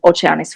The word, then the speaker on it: Oceanis: And same for the Bavaria 46 and Oceanis 46. I'm Italian, so I pronounce it Oceanis.